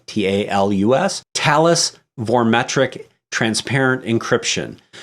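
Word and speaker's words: Thales: with talis that's th al es and it's pronounced talus like tal u.s.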